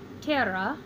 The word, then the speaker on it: terra: ter and era and when you have two syllables the accent is always on the first so I put the little accent mark telling me that I should pronounce this Tara and Terai I also went to